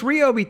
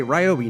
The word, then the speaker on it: Ryobi: Pronounce it the right way. Ryobi, not Robi.